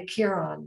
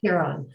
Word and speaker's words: Kiron: My name is Kiron. That's how it's pronounced, Kiron.